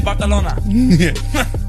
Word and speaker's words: Barcelona: was very good and you even put the th in barcalona I don't know why they say it like that but they do but have you heard